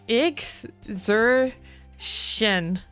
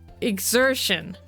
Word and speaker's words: exertion: eggs what the hell say it like this IX Zer shin exertion oh exertion exertion oh